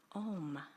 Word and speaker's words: Om: There are 3 syllables. It starts with ah, and then goes to o, oo, and then aum.